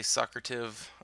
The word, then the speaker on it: Socrative: through Socrative so um I think that's how you say it's so crowd of some people might say sucker till I say so crowd of like Socratic seminar so bear with me